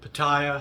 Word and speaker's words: Pattaya: uh uh chagai versus paa or paa or Paya however you want to call it it's it's paa that's how you say it in Thai uh but doesn't the